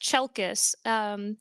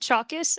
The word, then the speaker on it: Chalkis: It's been butchered quite quite bad, but it's just Chelkis. So Damn if you it. could imagine like chalk with is at the end, Chalkis, that would be fantastic.